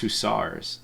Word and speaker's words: hussars: yeah I believe so oh apparently it's actually pronounced who stars I did not know that is it really